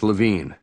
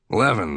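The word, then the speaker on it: Levin: He had pronounced the name here and on the phone earlier as Lavine. I said the name rhymed with heaven. Levan, then he said, getting it right.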